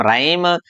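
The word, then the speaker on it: rhyme: अब देखते हैं यहाँ ए आर के बाद में यदि एच आता है तो एच साइलेंट रहेगा, जैसे इसको बोलेंगे हम राइम, रिदम, राइम, राइनो। ऐसे ही है।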